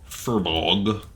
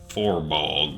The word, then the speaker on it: Furbolg: There are some Furbolg. I'm pretty sure the pronunciation's unambivalent about that one, but the computer pronounces it like Forbog or something like weird like that.